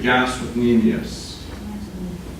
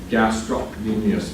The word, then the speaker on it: gastrocnemius: You don't have to pronounce the C, I'm pronouncing it now, so you know that it's there, so you don't get confused with stomach.